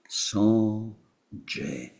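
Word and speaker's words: སངས་རྒྱས: In Tibetan, it had to become 2 syllables. Sanje.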